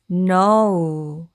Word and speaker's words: know: 일단 첫 번째 단어부터 보시면 여기서 KN에서 K는 묵음으로 소리가 나지 않는다고 했으니까 이 부분은 이렇게 N만 발음을 해서 느 라고 읽어주시면 되고요. 그리고 O는 여기서 O로 발음이 되었습니다. 그러면 여기까지 no가 되겠죠. no. 그리고 W는 우 소리 나니까 이 단어는 know 해서 know가 됩니다.